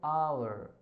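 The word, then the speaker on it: hour: क्यों आया एन, क्योंकि यहाँ पे हम पढ़ क्या रहे हैं इसको, आवर, आ, ठीक है, इसलिए आवर।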